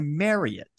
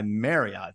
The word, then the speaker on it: Marriott: the Courtyard by and they put in parenthesis after Courtyard by parenthesis m a r y hyphen it t Drilling it into my head to pronounce this Courtyard by Marriot Marriot I I don't